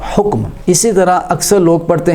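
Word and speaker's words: حُکم: حکم دیتا ہوں۔ یہ حکم لفظ نہیں ہوتا، یہ حکم لفظ ہوتا ہے، ہا کے اوپر پیش اور کاف کے سکون کے ساتھ حکم۔ اسی طرح اکثر لوگ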